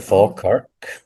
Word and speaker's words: Falkirk: but just on Scotland and your roots, you're a proud Scotsman from Falkirk. Did I say that correctly? That's correct. The Oh, Falkirk.